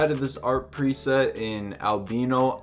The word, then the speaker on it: Albino: this art preset in Albino I pronounce the albino everyone else says Albano I don't care it's albino bro arpeggiator sounds 3 Lo-Fi